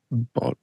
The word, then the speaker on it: Bottorff: How would you pronounce this? Ready? Bottorff. Bottoff? Bottorff.